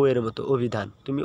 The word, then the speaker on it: অভিধান: হবে কি এই যে দেখো ও এর মত অভিধান তুমি ও দিয়ে উচ্চারণ করবে হ্যাঁ তারপরে দেখো এই যে যে